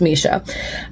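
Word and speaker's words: Mische: Um, I called her Meech this whole time until this book taught me how to pronounce her name. So, it's Misha.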